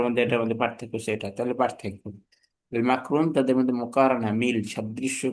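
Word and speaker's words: مقرون: মাকরুম। মাসরুফ মাকরুন মাকরুম। না, উচ্চারণ হচ্ছে এভাবে, আমি যেটা বলতেছি সেটা সহজ।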